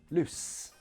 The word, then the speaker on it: loose: vibration unvoiced sound so the difference in these two words lose and loose it's this lose has that voiced sound at the end loose however has the unvoiced sound at the end loose loose oh you played